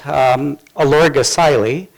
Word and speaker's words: Olorgesailie: and the unpronounceable name of the field site elorg acai Li is how it's pronounced in Masai country in in the southern